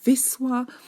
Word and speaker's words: Wisła: the Polish language basically our W it's pronounced V and then if you have the L with a little line with a little slash it's actually pronounced as W so when you see